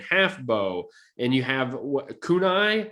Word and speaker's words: kunai: and longbow and half bow and you have kunai how do you say that yeah you did it you did it kunai you got kunai and sticky bombs and black